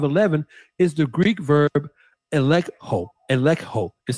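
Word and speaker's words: ἐλέγχω: Now, the word expose in Ephesians 5, 11 is the Greek verb elekho. Elekho is spelled E-L-E-G-C-H-O, which translated literally means to bring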